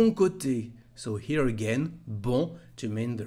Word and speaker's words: bon: Because of the letter E, the vowel we have just after, you can hear that the pronunciation of bon is different. Au bon endroit. It's like the pronunciation of the feminine form. La télé est au bon endroit. The reason is the vowel and the liaison between the two words.